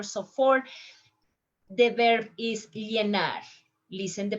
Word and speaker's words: llenar: Llenar. How you pronounce? Llenar, llenar, llenar. A little bit stronger.